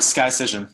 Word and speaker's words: Skycision: And as will become clear in a minute, your business, Skycision, that's how it's pronounced, right? Skycision? That's correct. Skycision. Skycision is helping Napa Valley companies.